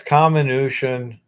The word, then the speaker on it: comminution: yeah, it's comminution. Yeah, and it's not arsenopyrite either. It's arsenopyrite. It takes forever to change a pronunciation that you've been using for years.